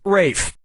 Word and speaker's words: Ralph: - yeah ray finds first name is spelled like Ralph but pronounced Rafe and his brother Joseph